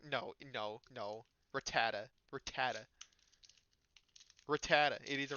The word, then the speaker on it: Rattata: It's NK Rattata like like a gun. No, no, no. Rattata.